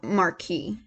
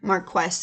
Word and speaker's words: Marquis: Actually, no, Marquis. Of the Marquis. Marquess is the feminine pronunciation of the word.